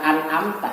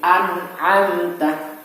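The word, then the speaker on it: أنت: Jadi contohnya dalam lafal anta, bukan amta, tapi anta, anta.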